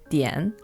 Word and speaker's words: 点: In Chinese, this is pronounced dian.